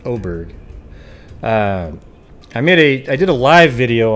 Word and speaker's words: Oberg: The, this case on Daniel Oberg, I guess that's how you pronounce it, it's not Auberg, but Oberg, I did a live